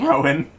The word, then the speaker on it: Rohan: Wait. Rowan. The H is silent.